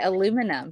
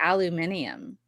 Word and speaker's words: aluminium: So, like out here, we say aluminum, but you say aluminium. Which is the correct pronunciation of the word. That's how it's spelled.